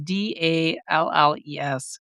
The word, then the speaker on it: Dalles: I was mispronouncing it Dallas. It's Dales, Dalles.